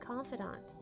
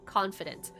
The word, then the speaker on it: confidant: Also, I'm very well aware that confidant is usually spelled with an E at the end, and I'm saying it like it has one because it doesn't sound right to say confident. But I don't know, I could be wrong. It could be pronounced confident and not confidant.